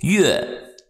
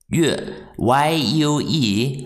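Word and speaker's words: 月: The pronunciation for moon is yue. Y-U-E, fourth tone.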